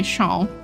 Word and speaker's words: Sean: Sean? Like lawn? Sean? Complicated. This is extremely hard for me to pronounce, I'm not gonna lie. I've never met a Sean before. Rhymes and long. Okay, Sean.